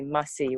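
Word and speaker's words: Massi: I call her Musty. Actually, I'm saying it wrong. In our culture, we have a designation for every type of relationship. Uh-huh. So her name was actually Mussy, which means my mom's sister.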